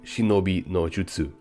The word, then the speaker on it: shinobi no jutsu: Once again, in terms of terminology, the correct way to say the famous word ninjutsu is actually shinobi no jutsu, and this manual is